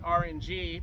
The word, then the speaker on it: RNJI: And recently, I worked with a friend of mine named RNG, but it's spelled RNJI, on a cover of a Metropolis zone from Sonic the Hedgehog 2.